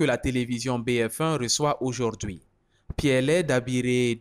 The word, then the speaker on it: Kpielle: Il n'est pas donné à n'importe qui de pouvoir ça, le prononcer. Oui. Surtout mes cousins ou mes petits-fils, moi aussi, là, oui. Ils n'ont pas le son peu. Okay. Dans leur langage, si bien, ils ne peuvent pas prononcer.